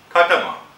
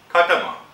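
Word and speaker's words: خاتم: It's pronounced khatama. It's pronounced khatama.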